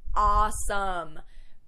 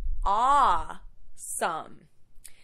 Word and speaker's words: awesome: Next, awesome. Make sure that your pronunciation of this word is correct. You have to open your mouth quite a bit. Awesome.